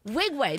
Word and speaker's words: Nwigwe: We are talking to Tobe Nwigwe. The N is silent. Come on. The N is silent. N is mad silent.